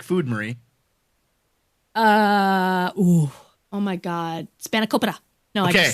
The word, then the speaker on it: spanakopita: Oh my God, spanakopita. No, I just say that because it's good. It's good to say spanakopita.